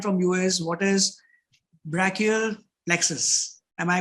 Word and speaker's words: brachial plexus: like to understand from you is what is brachial plexus am i pronouncing it correct yeah yes awesome and brachial